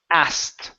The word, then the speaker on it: asked: the word is pronounced asked okay take out the K take out the K pronounce the T as as mhm okay